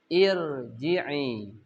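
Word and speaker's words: ارجعي: Irji'i. Ya. Cara bacanya harus tafkhim. Karena kasrohnya ir itu tidak asli. Maka cara bacanya ya ayyatuhan nafsul mutmainnah irji'i. Harus tebal. Yang kelima, jika ra berharakat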